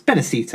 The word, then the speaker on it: Benicio: Is that how you pronounce it? It's Benicio.